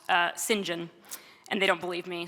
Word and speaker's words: St. John: Well, Slim Jim is what a group of my students started calling Sinjin, which is, it's spelled St. John, but the British do what they do, and somehow that's pronounced Sinjin.